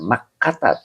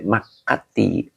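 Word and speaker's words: مكة: Ya, jadi dibacanya makkata, tidak boleh makkati.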